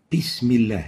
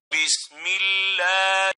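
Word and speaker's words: بسم الله: Bismillah. This is wrong. It should be like this. Bismillah. Bismillah. So the proper way is to pronounce the Arabic ba like the English B and not the P.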